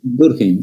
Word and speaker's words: Durkheim: El empirismo, Emily Durkheim, no sé cómo se pronuncia. Durkheim, sí.